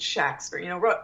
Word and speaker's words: Shakespeare: He spelled his name pretty much with a short A, S-H-A-K-S-P-E-R, S-H-A-C-K-S-P-E-R, S-H-A-X-P-E-R, Shakespeare. So I think he really pronounced it Shakespeare.